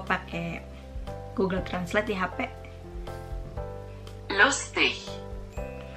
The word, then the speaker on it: lustig: untuk kata seperti ini, G-nya itu mereka seperti tidak dibaca, seperti dilepas saja atau seperti huruf H gitu. Contohnya itu begini loh, gue pakai Google Translate di HP. Lustig. Lustig.